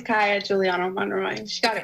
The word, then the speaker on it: Kaiya: Our next volunteer who is also here is Kaiya Giuliano-Monroy. Sorry, Kayla, Kaiya. - Is it Kaiya or is it Kaiya? - It's Kaiya Giuliano-Monroy, she got it right the first time.